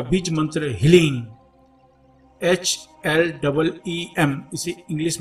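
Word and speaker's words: ह्लीं: अब अपने आज्ञा चक्र को थोड़ा सा पिंच करें और बगला मुखी का बीज मंत्र हीलिंग HLEEM, इसे इंग्लिश में लिखेंगे तो HLEEM हीलिंग का उच्चारण करें।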